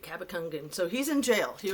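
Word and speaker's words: Cabacungan: with the last name how do you say it I totally hacked it yesterday it's like c a b a c u n g a n so Kaba Kangen Nate cabacangan so he's in jail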